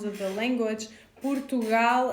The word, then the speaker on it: Portugal: Portugal and Moreno, we have their closed kind of pronunciation of the O.